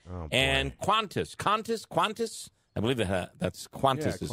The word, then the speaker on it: Qantas: And Qantas, I believe that's Qantas is how it's pronounced.